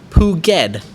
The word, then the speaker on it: Phuket: mark united who says phuket is pronounced puget not with a k sound check youtube and thai